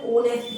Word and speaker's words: honest: है, फिर भी मैं ओनेस्ट पढ़ रहा हूँ। इसको ओनेस्ट क्यों पढ़ रहा हूँ मैं, क्योंकि जो एच आगे वाला लेटर है ना वो साइलेंट होता है।